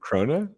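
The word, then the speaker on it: krone: So, how do you pronounce it? Crona. Crona. Yeah. Corner. It's actually the same word as crown.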